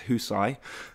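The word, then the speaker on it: Hysaj: been getting a lot of flack for not pronouncing his name correctly, but apparently it's Husai, and then Murray in goal.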